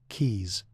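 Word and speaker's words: Caius: He became a fellow of Goneville and Kais College in Cambridge, pronounce it keys, giving him both security and resources.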